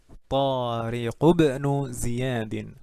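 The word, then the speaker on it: طارق بن زياد: Binu Tariq ibnu Ziyadin. Tariq ibnu Ziyadin. Gitu cara bacanya.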